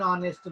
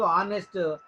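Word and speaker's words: honest: Ramayya is అన్ ఆనెస్ట్ మ్యాన్. ఇక్కడ రామయ్య ఒక నిజాయితీ కలిగినటువంటి మనిషి అన్నట్టు. సో ఒక నిజాయితీ పరుడు అన్నట్టు. సో ఆనెస్ట్ హెచ్తో మొదలైనా కానీ ఇది సైలెంట్ కాబట్టి ఆనెస్ట్ ఓవెల్ సౌండ్ కాబట్టి అన్ ఆనెస్ట్ అని వచ్చింది.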